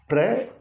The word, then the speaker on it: prayer: This is prayer, here also final R is silent, mostly this R is pronounced in India, but the final R is to be silent. So this is prayer.